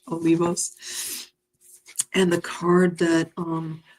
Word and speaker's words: Olivos: and goddesses Claudia Olivio Olivos I believe that's how you pronounce it in Spanish Olivos and the card that